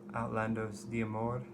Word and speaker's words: Outlandos: ton of my life that is the police's outlandos that's how it's pronounced I've known about this album since I